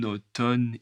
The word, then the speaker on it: automne: En automne, il pleut souvent. Encore une fois, le N avec le A U. A U c'est O.